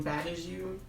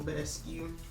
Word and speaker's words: Badescu: I've been saying Bad As You. I'm pretty sure that's not how you say it, so I'm gonna say Mario Badescu.